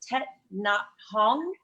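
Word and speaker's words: Thích Nhất Hạnh: It's pronounced Tet Nhat Hanh.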